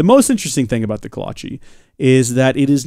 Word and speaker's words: kolache: my grandmother calls it my grandmother caused the kolache the Kalon Qi Kalon Qi so wrong again pronounces it wrong delightfully wrong but very wrong we've always made fun